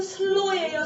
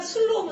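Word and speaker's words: slow: 엑센트가 왔을 때랑 또 스펠링이 ow로 왔을 때는 슬로우는 슬로우예요 슬로우예요 스노우가 되게 왜냐면 ow가 왔으니까요 그게 얼마나 큰 그냥 술로우면 술로인 줄 알았죠 근데 그거를 이렇게 반응하셔야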